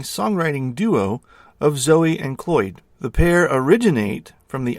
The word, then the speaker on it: Cloyd: And John is one half of Zoe and, is it Cloud? Do I have that right? Zoe and Cloyd.